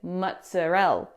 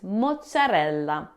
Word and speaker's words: mozzarella: Don't say mozzarella. It's mozzarella. Now, the biggest mistake English speakers make with this word is dropping the final a.